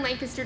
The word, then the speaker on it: Lancaster: So you're in Lancaster today, where Republican and you pronounced that correctly.